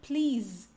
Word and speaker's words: please: mudo o essa ele só que aqui tem som de z please please please please please